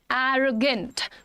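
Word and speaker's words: arrogant: एरोगेंट pronunciation क्या है? एरोगेंट। एरो ए और ओ पे एरोगेंट।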